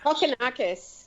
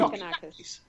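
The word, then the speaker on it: Kokkinakis: Kokonakis. Ooh. Kokonakis.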